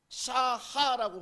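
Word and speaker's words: שָׁחָה: 근데 이것을 헬라어로 해석해 보니, 히브리어로 보니 샤하라고 발음합니다.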